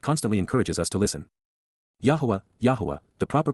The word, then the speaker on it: Yahowah: Yahowah, the proper pronunciation of Yahowah, God's personal and proper name